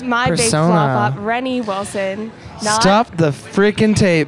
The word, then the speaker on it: Renny: And they said, hey, you shouldn't pronounce a French name like that. Change it back to like its original pronunciation. So they started calling me Renee. So yeah, that's how I became Renee. And then I decided to go back with Renny for, it's just easier to say, I guess.